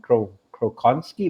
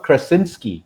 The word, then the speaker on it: Krasinski: and it's actually started by this gentleman Joe crow crow con ski let me get it right here because I don't want to butcher the poor guys so it's John Krasinski alright so yes yeah I think it was